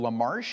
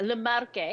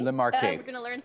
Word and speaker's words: Le Marche: actually never uh heard about this recent region la marsh is it pronounced yeah le marche the marquee so easy once you know the language i'm